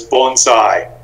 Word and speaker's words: bonsai: with a very simple thing it's the correct pronunciation is bonsai and the literal translation is a tree and